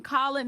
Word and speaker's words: Colin: so proud of myself for saying Colin not : because I pronounce it cold every single time oh my god Nick